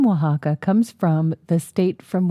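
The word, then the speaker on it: Oaxaca: from Mexico okay and I think it's pronounced Waka um is that a w well it's o a x a CA Oh Waka is a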